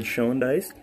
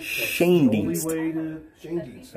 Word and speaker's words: Schoendienst: interested in, that red Schoendice. Oh, Schoendice, yeah, red Schoendice. I love how it's like a name that I have never heard pronounced the same way twice, I don't think.